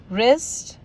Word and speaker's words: wrist: Again: whole, right, rack, to, wrap, sword, wrist, answer, wrinkle, whom, wriggle. So friends, इसी के साथ ही हमारे silent letters जो थे वो भी आज ख़त्म हो गए हैं.